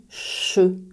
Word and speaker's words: je: Le mot « je » devient « che », prononcé comme « chat » à l'oral.